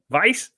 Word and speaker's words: Weiss: do you say that it's a german word no vice lice i hope that's